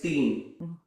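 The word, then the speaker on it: तीन: Teen, if you spell it, it almost looks like teen, but it's teen.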